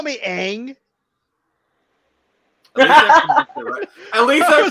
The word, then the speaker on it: Aang: that in mind did you just call me Aang at least I pronounced it right I was like wait a